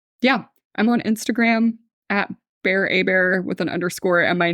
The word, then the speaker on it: Hébert: last name is spelled h e b ERT which people will see if they're listening to this but it looks like Hebert it looks like Hebert but it's pronounced a bear because it's French oh yeah because you're